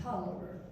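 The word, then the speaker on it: Taliaferro: It's Talafero, pronounced Tolliver, in Virginia.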